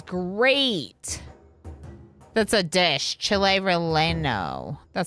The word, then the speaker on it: relleno: Chile relleno. Oh, yeah, because you don't pronounce the L's.